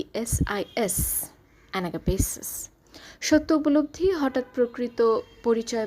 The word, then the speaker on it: Anagapesis: প্রতি অনুভূতি ম্লান হয়ে যাওয়াকে ইংলিশে বলতে পারি এনাগাপেস এটি একটি নাউন অর্থাৎ ভালোবাসা যেখানে একেবারে শূন্য হয়ে গিয়েছে spelling A এন এ পি এস আই এস এনাগাপেসিস সত্য উপলব্ধি হঠাৎ প্রকৃত পরিচয় বা সত্য বুঝে